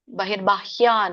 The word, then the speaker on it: ಬಹಿರ್ಬಾಹ್ಯಾನ್: ಸ್ವರ ಕೂಡಿದೆ ಕೃತ್ವ ಬಹಿರ್ಬಾಹ್ಯಾನ್ ಇಲ್ಲಿ ಬಹಿರ್ಬ ಬಕೆ ಮತ್ತೆ ಅರ್ಕಾವಳಿ ಇದೆ ಬಹಿರ್ಬಾಹ್ಯಾನ್ ಹ ಕೆ ಯವತ್ತು ಆ ಸ್ವರ ಹ್ಯಾನ್ ನ ಕೆ ವ್ಯಂಜನ ಚಕ್ಷುಶ್ಚೈವಾಂತರೆ ಕ ಕೆ ಷ